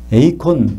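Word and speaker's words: εἰκών: 에이콘, 우리가 스마트폰을 쓸 때, 컴퓨터를 쓸 때 아이콘이라는 거 있죠? 그게 아이콘이라는 것이 영어가 이 에이콘에서 나온 겁니다. 아이콘은 눈으로 보이잖아요. 그죠? 에이콘이 영어식으로 발음하면 아이콘이 됐고, 거기다가 이제 우리 이미지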